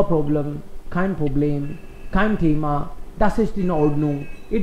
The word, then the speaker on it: Thema: Kind problem, kind problem, kind thema, no issue, kind problem, yes, kind problem, kind thema, thema, इसमें भी थ नहीं बोल रहा हूं मैं, kind thema, H is silent in German, इन द middle H silent रहता है जनरली.